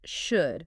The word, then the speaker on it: should: Like the silent L in should or could or would. You just don't pronounce it.